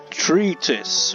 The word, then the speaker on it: treatise: Treatise. Okay, that's the pronunciation.